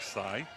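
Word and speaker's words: Sye: Last name spelled S-Y-E, so we'll call it Sai. First name Jatonzeo. We apologize if we mispronounce that.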